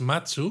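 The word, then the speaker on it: 松: se la llevarán cl pino en japonés es matsu y se dice igual aunque se escribe con kanis diferentes claro se dice igual que el verbo esperar Exacto Entonces la idea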